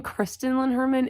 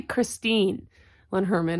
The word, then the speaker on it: Christine Lynn Herman: yesterday I finished All of Us Villains by Amanda Foody, and I kept saying Kristen Lynn Herman. It is clearly Christine Lynn Herman.